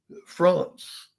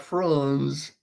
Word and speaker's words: France: So France with the T sound, not Franz, but France.